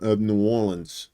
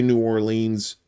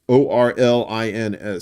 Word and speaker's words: New Orleans: in the city of New Orleans. So, and please don't say New Orleans. Don't Yankeefy yourself. It's New Orleans. New Orleans. Like Orlins. Say it like that, and the locals